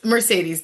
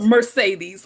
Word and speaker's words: Mercedes: And Mercedes, am I saying your name right? Because I speak Spanish and I'm also inclined to say it in the Spanish way. So tell me how you say it. It's Mercedes.